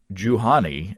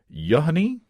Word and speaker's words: Juhani: But he says it's pronounced very much like you honey in English, except the U is short.